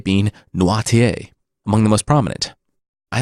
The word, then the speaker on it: Noirtier: Also, I actually listened to the Audible version long enough to learn that I pronounced nearly all the names incorrectly. Danglars being Danglars, de Villefort being de Villefort, and Nordier being Noirtier, among the most prominent.